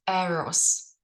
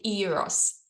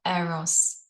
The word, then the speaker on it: Eros: like to propose that it's the energy of arrows or you can say Eros but I like the original Greek pronunciation of arrows what do I mean